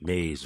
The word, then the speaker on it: Mazee: I probably have like Mazee across the top. Or even Mazee, I guess. Or do it like with the dictionary pronunciation on it. Yeah, right. Yeah, pretty much. Mazz pronounced Maze.